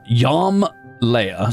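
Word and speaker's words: Jom Leia: So, let's call it uh Yam Leia.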